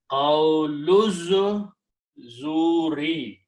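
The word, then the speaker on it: قَوْلَ الزُّورِ: So now the combination is qawlu and azuri, but when you read them together, you do not pronounce this alif, it's following the rules. Okay, it becomes hamzatul wasl, and you combine qawlu zuri.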